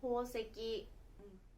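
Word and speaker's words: 宝石: (đá cuội) "石" (đá) trong đồ trang sức, chẳng hạn như kim cương và hồng ngọc, được viết là "ほう石" và được đọc là "hō seki."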